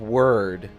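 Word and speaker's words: Wyrd: for web a word I think that's how that's pronounced it's w yr d so I think it's web of word but it looks like web of weird to me Hellboy rewatch that you'll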